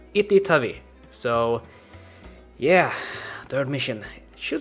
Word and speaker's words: Itytawy: And I actually checked up the pronunciation of this town, and it's Itytawy.